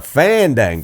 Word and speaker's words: fandangle: I don't know why we're so intent on like No, no, no, you're mispronouncing it. Like, what? No, it's fandangle. You put the wrong empasis on the wrong sal.